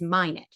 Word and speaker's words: Minot: absolutely thrilled today to welcome the author Eliza minet her name is pronounced and I screwed that up on the podcast um it's not Mano it's minet so welcome Eliza thank you thank you thank